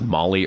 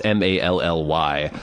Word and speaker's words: Mally: Apparently, Mally, I don't know if it's pronounced Molly or Mally, but it's Mally.